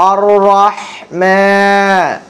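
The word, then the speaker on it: الرحمن: আলহামদুলিল্লাহি রব্বিল আলামিন আর রাহমান আর একটু মোটা করবেন র হচ্ছে মোটা আরহ আর রাহমান আর রাহমানির রাহিম আর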